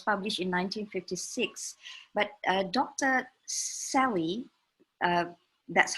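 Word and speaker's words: Selye: life it was published in 1956 but dr sally that's how we pronounce it talks about stress from physiological perspective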